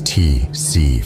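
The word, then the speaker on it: tsetse: by none other than the t flies pronounced as TC flies these tiny insects may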